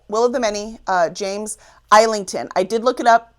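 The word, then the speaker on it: James Islington: Will of the Many, uh, James Eington.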